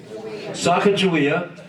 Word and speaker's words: Sacagawea: with goku kakawia how do you say that sacagawea yeah i have a little bit of a